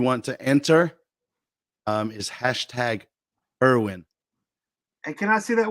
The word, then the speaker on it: Kerwin: Kerwin. In Spanish, it's Kerwin. Well, how does his mother say it? I guess. I mean, he says Kerwin.